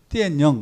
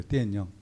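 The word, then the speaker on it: 电影: 여기 중국 학생은 없는데 중국말로 이거는 띠엔영 이래. 띠엔영.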